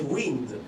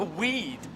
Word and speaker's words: weed: say weed oh the weed yeah you've got if it's two e sheep or weed you got to stay in those e e